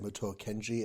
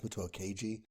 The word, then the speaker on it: Muto Keiji: It was not, I think I said Muto Kenji. It's Muto Keiji.